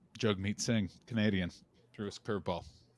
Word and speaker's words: Jagmeet Singh: Jagmeet Singh, Canadian, threw his curveball. Jagmeet Singh. Yeah. Jagmeet. Shit. I always mispronounce his name.